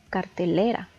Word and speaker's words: cartelera: La tercera es cartelera. Podemos ver que contiene 4 sílabas y la que tiene más entonación es le, cartelera.